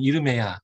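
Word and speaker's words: ירמיה: 제목은 히브리어 성경에서는 이르메야, 예레미야의 히브리어 발음인데요.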